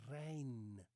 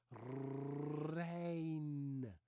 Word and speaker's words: Reijn: Her name is not Rain. Her name is Reijn. First of all, most Dutch people use a different R. They use a rolling R. So let me pronounce it again. Reijn.